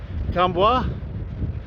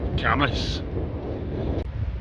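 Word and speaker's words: Cambois: It's spelled C A M B O I S. Now, for me being not too bad at French, I'd actually gone for camo. Other people might go for cam boys. It's actually camas.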